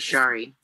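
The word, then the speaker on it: Sari: have for me today well first of all it's shari thank you matt what what what did you say my name is shari shari yeah okay but you spell it s-a-r-i yeah so add an h if you want me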